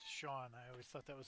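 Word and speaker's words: Chone: okay Joan figgins yeah c-h-o-n-e pronounced Sean I always thought that was funny John Lackey who came to my cubbies in 2016.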